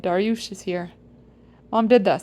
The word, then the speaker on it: Darius: minions of orthodoxy learn the Persian pronunciation of my name, which is Darush.